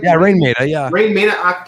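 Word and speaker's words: Raine Maida: Dario said, Rain Maida, is that how I'm saying it right? Yeah, Rain Maida, yeah.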